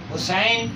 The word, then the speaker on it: حسین: ان کی رائٹنگ بھی۔ حسین، حسن HASAN، حسین HUSAIN، بلکہ عرب تو EIN، کیونکہ حسین نو یا کو گہرا پڑتا ہے۔ علیہم نے، یہ فاضلانہ تلفظ نہیں ہے، یہ متجاہلانہ تلفظ ہے، اس لیے یہ بھی اسی کے تحت حسین گہرا تلفظ کریں اور اس کے